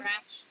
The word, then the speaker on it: Koresh: Koresh. Yeah. Yeah, what did David Koresh do when the shooting started at Mount Carmel Center?